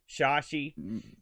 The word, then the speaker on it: Chahi: named eric shashai is that how you would pronounce that boat c-h-a-h-i shashi um eric is sort of a wunderkind i